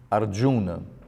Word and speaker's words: Arjuna: O J como j, Arjuna.